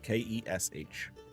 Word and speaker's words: Kesh: Spell that. M A R R O. Last name is Kesh. K A R R O. Yep. Last name is Kesh. K E S H.